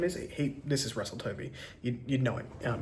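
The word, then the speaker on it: Tovey: Um, by Russell Toby, I want to say his name is. He This is Russell Tovy.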